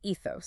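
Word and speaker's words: ἔθος: The first word is ethos, pronounced ethos.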